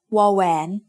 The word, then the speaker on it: วอแหวน: This one is called วอแหวน It makes the sound w, just like the W in water.